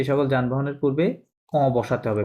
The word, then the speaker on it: bus: taxi, voiture, ভুয়াতো, correct, bus, বুস, bus, নট বাস, বুস, bus, train, ট্রান, কি হবে